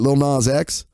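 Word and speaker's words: Lil Nas X: little little nine X how do you say it little nas X not a sex little now sex okay old town road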